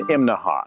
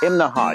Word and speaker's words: Imnaha: Okay, this morning we're in Imnaha. Now, that's three syllables, Imnaha. You have to say it that way or people in town will laugh at you.